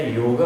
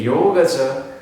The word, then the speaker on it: योग: ए लावतो, तर ते योगचं स्पेलिंग इंग्लिशमध्ये करताना योगा असं झालेलं आहे. पण खरं तर तो हिंदू धर्म प्रमाणे इट इज अ योग.